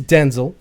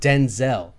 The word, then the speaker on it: Denzel: But his name is actually Denzel, but his mom pronounced it Denzel, so that he could be differentiated from his father, who was Denzel. So he's Denzel Right.